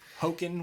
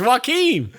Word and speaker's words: Joaquin: I feel like if I did meet him, I was like, hey, Hoken, whatever the fuck. Yeah, no, it's easy. It's Joaquin.